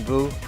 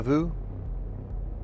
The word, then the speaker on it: vous: Pretty good, except we don't pronounce the S in vous.